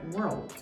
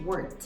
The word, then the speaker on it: world: que é a palavra world, né? Mundo. E eu pronunciei world como se fosse word, como se fosse palavra.